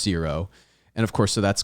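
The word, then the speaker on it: Ziro: hut crime crime lord named zero and it's pronounced zero and of course so that's kind of like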